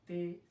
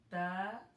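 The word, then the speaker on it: ت: So do not recite the Arabic alphabets like in Urdu, like Alif, Be, Te, Se. Pronounce them like Alif, Ba, Ta, Tha.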